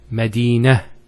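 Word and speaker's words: مدينة: I actually pronounced the ta marbota as a ha. Medina, Khadija. Now if I stop on the ta marbota, it's actually pronounced as a ha in both cases.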